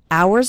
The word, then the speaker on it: hours: trying trying to spend hours and hours remember the h in the word hours is silent so don't pronounce it at all hours and hours and the